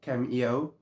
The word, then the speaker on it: Caim: teaching a bit about the demon K or CIO um I prefer going with K it's bit simpler to pronounce anyway teaching is his